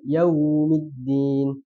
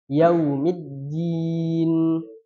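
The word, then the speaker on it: يَوْمِ الدِّينِ: jadi harus dua kemudian mengucapkan Dal seperti logat Jawa yaitu medok medok ya kan dia bacanya yaumid tapi harus tipis dia seperti logat orang Baratan di Bukan da di du ya jadi harus tipis yaumiddin kemudian sama di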